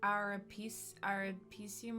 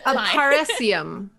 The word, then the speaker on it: Aparecium: What's the name of that year 2 spell that reveals? Oh my goodness. Yeah, it's like Arapecium or something. That Wait, one. look. As long as we all know what it does. Aparecium.